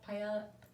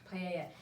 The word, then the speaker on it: paella: say it was called paella paella there we go i always want to pronounce the l's if you don't paella and i'm not a